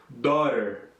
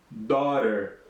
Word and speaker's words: daughter: Ó, daughter, daughter. Tá? A gente não pronuncia esse GH aqui.